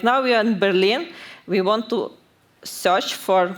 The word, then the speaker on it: Berlin: on but there are some people who doesn't know correct pronunciation of Berlin and they T like barlin and this way we